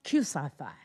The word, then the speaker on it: Omega Psi Phi: And even though the name sounds so formal, Omega Psi Phi, when you call them, you have to pronounce it like this. It's Q Psi Phi, Q Psi Phi.